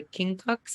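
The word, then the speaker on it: quincunx: this was a perfect uh initiation into the king Cox I think is how you pronounce it you know okay yeah like never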